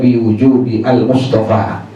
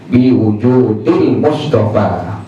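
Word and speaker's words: بوجود المصطفى: Makanya waktu baca Asyraqal itu yang sampai pada kalimat biwujudi, tidak dibaca biwujudi al-Mustafa, tapi dibacanya biwujudil Mustafa, karena itu baharnya seperti itu, bahar seperti itu, maka mesti dibaca pada ahlul ilm, dibaca biwujudil Mustafa.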